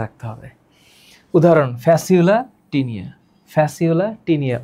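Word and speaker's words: Fasciola: ফ্যাসিউলা tinea উচ্চারণ কি করবা?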